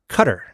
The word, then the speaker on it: Qatar: a pronunciation guide and if you say Qatar it's closer to the Arabic pronunciation than Qatar so it's less offensive